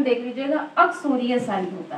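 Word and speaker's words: uxoricide: बच्चों, इसका प्रोनाउंसिएशन देख लीजिएगा, अक्सोरियोसाइड होता है।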